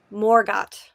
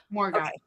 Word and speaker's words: Margot: Um, you pronounce the T in Margot. Okay. Morgot. Morgot.